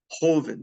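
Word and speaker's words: joven: fat what's the opposite delado Grande is large Hoven the JS pronounced like an H is Young all right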